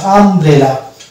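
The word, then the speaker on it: umbrella: তাহলে কিন্তু দুটোকে আমরা সরেন ধরবো না এবং উচ্চারণ ধরবো এরকম জামানা আরো শব্দ আছে যেমন আমব্রেলা এটা প্রশ্ন আসতেই পারে আমরা অনেক ভিডিওতে দেখি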